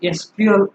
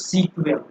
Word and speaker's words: SQL: अंतर्गत के डेटा का ओके तो इट is pronounced as एसक्यूएल और समटाइ्स सीक्यूएल मतलब एसक्यूएल को आप सीक्यूएल भी कहा बोल